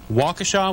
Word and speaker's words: Waukesha: Is it Waukesha, Wisconsin? That's correct. Go right ahead.